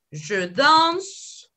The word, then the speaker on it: danse: Je danse, no pronuncio la E.